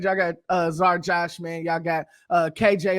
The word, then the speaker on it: Czar: Yeah, it's Czar.